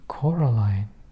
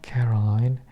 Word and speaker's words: Coraline: They kept saying Coraline, not Caroline, not Caroline at all."